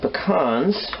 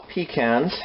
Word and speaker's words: pecans: my language with with pecans or pecans however you want to pronounce those some say tomato some say tomato some say pecan some say pecan my family we always call them pecans now let's spread that